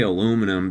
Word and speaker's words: aluminium: I I I still say aluminum because I live in America and that's how everyone says it. But the Brits are right on that one. 100%. It's spelled aluminium. There's a I there. We just like we just like don't say the I, but it's there.